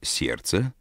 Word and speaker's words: сердца: сын пишется буква т слове сердца не произносится звук между r и s хотя на письме между буквами р и ц пишется буква д эти звуки которые мы